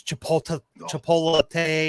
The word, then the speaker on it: Chipotle: It's Chipotle or something like that.